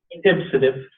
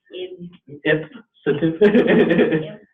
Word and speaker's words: ipsative: Ipsative. Ipsative.